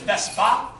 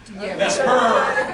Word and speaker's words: Vesper: And a lot of people mispronounce it as Vespa, Vespa is the Italian scooter. Vesper is Vesper Lynn.